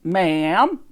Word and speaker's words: ma'am: don't it and all ma'am not marion it rhymes with ham or jam i'd done it all